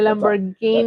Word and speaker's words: Lamborghini: oh, I'm sorry, Lamborghini. That's a hard G.